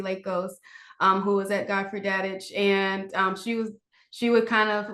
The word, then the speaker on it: Dadich: How do you pronounce it? Godfrey? Godfrey Dadich.